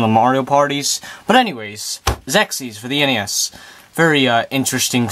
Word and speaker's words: Xexyz: about a little bit about Sexy's or maybe it's sexes depending on how you want pronounce it I'm going to call it sex ease because that's what I call it as you can see